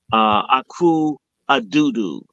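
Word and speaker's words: Akufo-Addo: the president of Ghana, Akufo Addo, that's how I pronounce it, and he's more than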